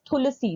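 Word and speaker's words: Thulasi: अच्छा इसमें तुलसी है बट साउथ में it's pronounce तुलसी that is व्हाई the spelling is टी एच तो तुलसी जो है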